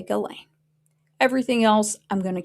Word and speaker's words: Ghislaine: Because the only thing that I'm correcting myself on my pronunciation is Ghislaine. I won't call her Ghislaine anymore. I'm going to say Ghislaine.